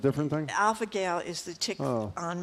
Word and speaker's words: alpha-gal: name to pronounce, and everyone calls it Alpha Gal for short. But I heard you pronounce it Alpha Gale, and I'm like, I have to call and see if I can get through it.